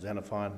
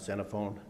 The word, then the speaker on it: Xenophon: 6065 Santa Fon Street that's present pronounced xenophon not xenophone and uh and I